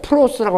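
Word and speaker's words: πρός: 바로 함께란 말은 헬라어로도 발음이 그냥 똑똑한지는 몰라요. 프로스라고 합니다.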